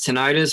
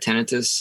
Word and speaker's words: tinnitus: I always thought it was tinnitus, but my ENT doctor corrected me and said tinnitus.